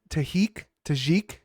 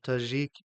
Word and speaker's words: Tajik: saying the how do you say his nickname tah tajik yeah tajik the tajik eagle so I mean there's a